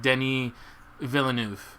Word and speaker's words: Denis Villeneuve: pronunciation it looks like Denny Villeneuve yeah it's not Dennis it looks like Dennis yeah because with one n but Denny Villanova that's